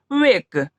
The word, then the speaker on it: wake: WAKE, last में ई है तो ई का उच्चारण नहीं होगा, इसे हम लोग क्या पढ़ेंगे? वेक।